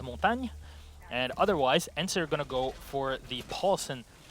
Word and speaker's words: Montagne: And yes, this is how you pronounce it. So everybody watching out there, that's French. Bonsoir. And second of all, yes, it is Montagne.